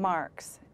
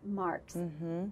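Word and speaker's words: Marckx: character's name is mary and how do you pronounce her last name marx marx but spelled it's spelled it's difficult i think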